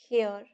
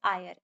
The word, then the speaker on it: heir: ये वाला, अब इसकी प्रोनाउंसिएशन काफी लोग हेयर करते हैं, हायर करते हैं, बट the pronunciation is आयर. एच is silent.